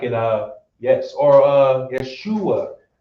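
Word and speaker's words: ישוע: like it yes, or Yeshua. Notice now you did not hear any e's, you did not hear any u's.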